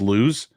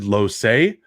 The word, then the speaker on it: Lossey: reading on the screen it is not pronounced lose i definitely made that mistake the first 13 times i read it it's david lossey not lose so we can't pin